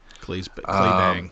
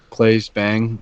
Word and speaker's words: Claes Bang: I don't know how to pronounce his name. Claes Bang. Clay Bang, sure. Claes Bang.